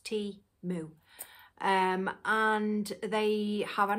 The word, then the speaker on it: Temu: words for their name timu and it is pronounced T moo um and they have